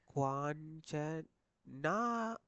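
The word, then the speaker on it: 괜찮아: குவாஞ்சனா தான் வாசிக்கணுமே தவிர என்னது ஜன் ஹாயோன்னு வாசிக்கப்படா விளையிட்டா. குவான் ஜன் ஹாயோன்னு வாசிக்கமாங்க எப்படி வாசிக்கணும்? குவாஞ்சனாயோ.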